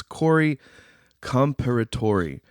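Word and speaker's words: Corey Comperatore: minute to get the name completely right it's Corey comparator and I'm going to go ahead and spell it for everybody c o r y c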